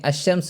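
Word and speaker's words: الشمس: যেমন এখানে আশশামস এখানে লাম বর্ণটি উচ্চারিত হয়নি।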